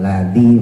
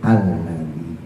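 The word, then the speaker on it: الذي: Jadi bacanya bukan ladzi khalaqakum tapi alladzi.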